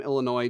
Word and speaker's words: Illinois: it up and yeah the name Illinois does it's comes through French which is how you end up with like a silent s on theend but um yeah